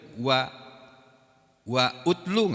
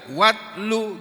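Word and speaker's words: واتل: Tapi kalau dibaca nggak boleh wa utlu, nggak boleh. Kalau kita baca Al-Quran, baca ayat ini nggak boleh wa utlu, nggak boleh. Ya bacanya harus watlu gitu.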